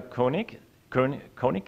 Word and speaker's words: Koenig: Faydra Koenig, yes, is the, I always have to make sure I'm not pronouncing it the German way.